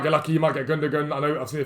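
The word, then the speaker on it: Gündoğan: I used to say Gundogan, and everyone said, no, it's Gundogan. I'm like, oh, which one is it?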